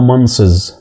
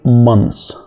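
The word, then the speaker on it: months: تبص كده للكلمه وتنطقها دايما بننطقها منصز طب والكلمه التانيه كلوزز الحقيقه ده مش صح خالص عندك تي اتش حاول تنطقها كده مث صعب قوي حتى لما تكون في جمله وتكون بتتكلم مع حد الموضوع هيكون صعب جدا انك تنطق التي اتش بعدها اس فانت الصح انك تقول مانس مانس بس خلاص على كده هي كده هي بتتنطق كده مانس مانس الكلمه دي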